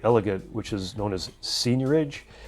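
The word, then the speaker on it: seigniorage: which is known as senior age it's spelt SE IG and io r a GE senior age and what that means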